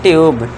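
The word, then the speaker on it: tube: यू के बाद consonant है बी और ई लास्ट में है। तो इसे हम पढ़ेंगे ट्यूब। ट्यूब में मत करना इसे।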